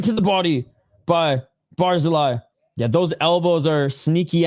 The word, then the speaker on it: Barzilay: Sorry for mispronouncing his name, guys. Barzeli, not Barzil.